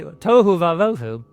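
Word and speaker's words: תֹהוּ וָבֹהוּ: Toou vavu.u.u.u.u.u.u.u.u.u.u practice saying it because you want to. Tohu vavvu. You see how it rhymes? It's both aiterative matching syllables bouncing off. It's really tohu vavu.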